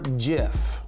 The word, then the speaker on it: GIF: G is for GIF, and yes, that's really how you say it.